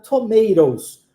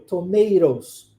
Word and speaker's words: tomatoes: tomate no plural tomates é pronunciado tomatoes olha como o t o segundo T é pronunciado com o som de R ros viu tomatos viu tomatos é diferente né os